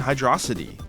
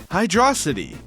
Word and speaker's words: Hydrocity: like Angel Island and Hydroity. Also, yes, this is the way I pronounce Hydroity. It's just cooler, so I'm sticking with it.